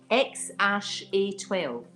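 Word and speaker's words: X Æ A-12: I think you pronounce it, this is what he says anyway, X-A12.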